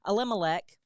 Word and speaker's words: Elimelech: Yeah, Elimelech, okay, took his wife and his 2 children, his 2 sons.